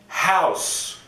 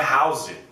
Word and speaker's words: House: vez Friends outra série House essa série é bem famosa não é House Cuidado com o que você fala House é o mesmo som daquela balinha House OK outra Homeland outro